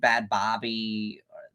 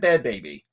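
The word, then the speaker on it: Bhad Bhabie: It's Bad Baby, Kevin. Is it Bad Baby? It is 100% Bad Baby.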